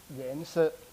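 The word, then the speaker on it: 颜色: So the Chinese term for color actually pronounced as 颜色, 颜色.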